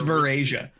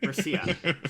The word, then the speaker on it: Varisia: It's Verasia. Is it Verasia? Varisia? Varisia.